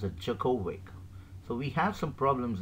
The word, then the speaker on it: Djokovic: djokovic so people should uh normally say that digovic so it it is pronounced as jokovic so we have some problems in relation to